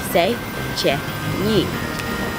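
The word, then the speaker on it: Széchenyi: city Bichette snitch bars wait that's how you pronounce it this engineer but stay check me stay check me this H in yuba let's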